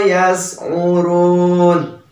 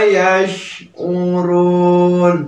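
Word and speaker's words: يشعرون: Jangan malah membacanya wa ma yas'urun. Nah, kurang tepat. Tetapi yang tepat wa ma yash'urun. Jadi ada angin keluar ya.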